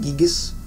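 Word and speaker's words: Giygas: or the localization rather, his name was changed to Gygus, or some people like to pronounce it Gigas. But I think the last time I heard is everyone who was working on the localization was calling it Gygus.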